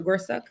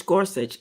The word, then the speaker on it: Gorsuch: with justices Alito Thomas Gorsuch and is it Gorsuch or Gorsuch it's Gorsuch well some people pronounce it as suck but yeah it's Gorsuch and inherit all dissented